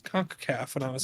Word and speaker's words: CONCACAF: said it so confidently with conca cave i was like yeah that's it and then danny's just like actually it's conk caff and i was like